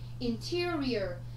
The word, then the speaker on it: Interior: Interior. Như vậy chúng ta sẽ có trọng âm dêm tích thứ hai cho cô.